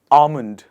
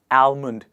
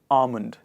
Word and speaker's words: almond: it in winters but the trick to pronounce it is by removing the l sound in the word and we say almond not almond it is almond the next one is